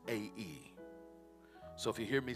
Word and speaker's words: Ai: And Joshua sent men from Jericho, although it looks like A-I, it's actually pronounced A-E. So if you hear me say A-I, forgive me in advance. From Jericho to A-E, which is beside Beth